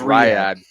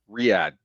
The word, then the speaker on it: Riyadh: right that's how we I think we pronounced it all wrong last week rad Riad that's it um so they were